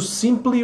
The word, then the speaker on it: simply: O Simple Minds e o Simply Red. Então o brasileiro tem sempre a tendência de pronunciar as duas igual.